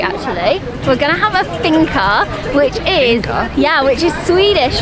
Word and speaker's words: fika: First finca in Sweden. I think that's how you say it. Finca. It's F-I-K-A. Fika.